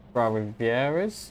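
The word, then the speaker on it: Trois-Rivières: Welcome back here at Trois-Rivieres. Yeah, that's how you pronounce that.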